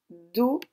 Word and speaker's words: dauphin: Le mot suivant, Dauphin. Dauphin. Attention, c'est le O de jaune. Dauphin. Et dans fin, on utilisera le 1 de lapin. Dauphin.